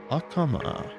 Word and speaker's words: Akama: Akama. Akama? Is that her name? That's how they call her in Japanese. Akama. Japanese pronunciation. Japanese change Chinese names in the pronunciation all the time.